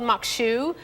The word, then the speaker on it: Maque Choux: so this is called Mok shoe and that's how you pronounce it it's spelled a little different they can see that